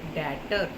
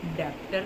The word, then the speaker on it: debtor: Date का मतलब होता है कर्जा, डेप्ट नहीं कहना है, डेप्ट प्रोनाउंसिएशन बिल्कुल गलत हो जाएगी, हम इसको बोलेंगे date. Likewise डेटर, DEBTOR, डेप्टर नहीं होते, डेटर्स होते हैं, एंड डेप्ट नहीं होता, डेट होता है।